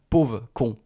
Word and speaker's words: pauvre con: Parfois, on met le mot “pauvre” devant et avec la prononciation, il n'avait pas dit “pauvre con”, il avait dit “pauv’con”. Ça c'est quand on parle vite, donc “casse-toi, pauv’con”, c'est une phrase qu'on sort beaucoup.